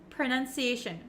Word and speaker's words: pronunciation: what they are so even though we have an O P R O It's actually kind of pronounced like a u like an uh uh sound and it's very short pronunciation pronunciation okay you don't need to open your mouth very wide with an O pronunciation no no no